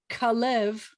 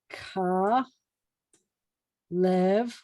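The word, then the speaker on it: כָּלֵב: there's a guy named kalev who's spelled just like this but we have to change his vowels so there's a guy named ka lev which is this these two vowels his name is kalev and he went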